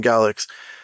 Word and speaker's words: Galax: So we're going to do a follow-up video on the Mystic Galax, that's how you say his name, Galax, situation.